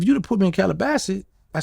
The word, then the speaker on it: Calabasas: Well, yeah, if you'd have put me in Calabasas, I said it right? Calabasas.